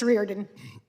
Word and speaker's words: Reardon: What's the right pronunciation? Thank you. It's Reardon.